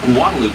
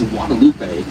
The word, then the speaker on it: Guadalupe: port side turn onto Guadaloop Street. Now, if you speak Spanish or aba espanol, you probably pronounce this as Guadalupe. Well, then why do we call it Guadaloop?